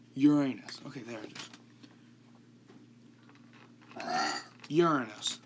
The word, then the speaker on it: Uranus: I'm trying not to say it like it sounds like Uranus.